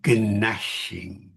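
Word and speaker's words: gnashing: Though that silent G in nashing of teeth, you see, was pronounced.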